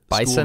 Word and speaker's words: Bison: and you pronounced their bison mascot as the Bison you are wrong it's the Bison as though there's a Z in it but there's not a Z there's an S yeah it's an S